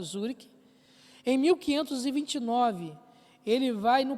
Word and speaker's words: Zurique: Em 1525, ele rompe, as missas são abolidas dentro do território de Zurique, aliás, Zurique, né, a pronúncia correta, Zurique.